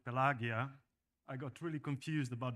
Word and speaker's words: Pelagia: pronounced and actually pelagia would be how the ancient Romans would pronounce it so this is classic Latin translation while the the